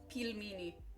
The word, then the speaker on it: pelmeni: all right peel meie you guys keep saying pronounce it right peel me like peel peel meie there you go I said it right